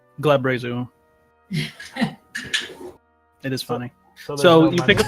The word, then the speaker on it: Glabrezu: Glabrazu. Glabrezu.